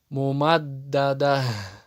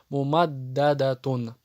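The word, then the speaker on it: مُمَدَّدَة: Следующее, если та марбута приходит в конце, и ты хочешь остановиться на этом слове, то вот эта та марбута превращается в букву ха. Хамия. Также не обращаешь, какая у нее сейчас огласовка. Мумаддада. Если, конечно, ты хочешь продолжить, то читаешь его так, как написано. Мумаддадатун.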